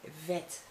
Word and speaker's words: vet: Next vowel, it's the E in your case, but we say E, like in vet. In Dutch we say vet.